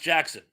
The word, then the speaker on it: Jaxxon: And well, Jackson is pronounced Jackson.